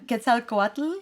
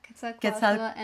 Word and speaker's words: Quetzalcoatl: Quetzalcoatl. Yeah. Quetzalcoatl. Quetzalcoatl This one, too. Uh let's see. Quia Quia Quia Quatl? Yeah, that's the second one. and Quetzalcoatl.